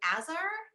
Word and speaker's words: Aesir: the, I'm going to say this wrong too, Azar? Aesir? How do you pronounce that? Aesir? Aesir? Yeah. Aesir, yeah.